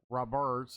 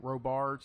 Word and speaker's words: Robards: And of course, Jason Roberts, I think I think that's how you pronounce his name. Robards.